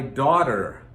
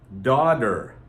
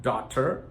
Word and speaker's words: daughter: My son and my daughter, daughter, daughter. Notice, daughter. Most people don't pronounce it daughter. Only if they're trying to enunciate for singing or something like that do they actually pronounce that strong T sound.